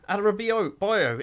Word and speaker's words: Adarabioyo: It might be his name. Adarabioyo. It is Adarabioyo. I actually said it right first time.